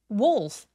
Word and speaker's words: wolf: Wolf wolf 여기서의 울f프는 울f가 아니라 wolf라고 오 소리가 날 수 있도록 입을 둥그럽게 말아 주세요.